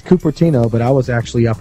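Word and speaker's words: Cupertino: was California California California capino or catino how do you say that it's copertino but I was actually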